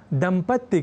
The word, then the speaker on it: दंपति: इसलिए ही संपत्ति, आपत्ति, विपत्ति जैसे शब्दों के समानांतर दंपत्ति का अशुद्ध लेखन और उच्चारण कर दिया जाता है। तो हमें यह ध्यान रखना है कि जब भी हम दंपति शब्द का प्रयोग करें तो इसके अर्थ को याद रखें, तो हम स्वयं इस शब्द के अशुद्ध उच्चारण और लेखन से स्वयं को दूर रख सकेंगे।